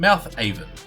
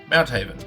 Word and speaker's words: Mounthaven: Yes, I have been pronouncing out Mouthhaven. Mounthaven. Mouthhaven. Mounthaven. Mounthaven. I'm calling this Mounthaven.